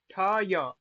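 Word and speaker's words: ठ्य: रहा है वो है ठय। ठ य। हाँ, ठ य। ये ना कोई पढ़े ठ य। यहाँ से उच्चारण होगा ठ य। ठय। क्यों? आकार नहीं है वहां पे, ठय, हल्का सा।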